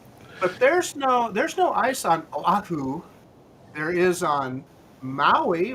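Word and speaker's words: Oʻahu: because every vowel is pronounced separately, right?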